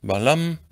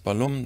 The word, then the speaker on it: Balam: The last element shows a jaguar head, so we know this is read Balam. In some Maya languages, Balum, doesn't matter.